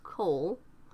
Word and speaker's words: CoL: names children of Loki or Cole pronounced the same as Cole is by far the